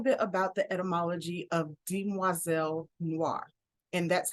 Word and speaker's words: Demoiselle Noire: so a little bit about the etymology of Dean moiselle Noir and that's how it is pronounced di moiselle Noir it comes from the French term for young